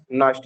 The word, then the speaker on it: Nernst: इसको क्या बोलेंगे नस्ट इक्वेशन।